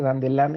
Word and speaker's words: Dandelin: Dandelin es un matemático, se escribe Dandelin, se pronuncia Dandelin en francés porque es el nombre de un matemático francés del siglo XIX, principios del siglo XIX.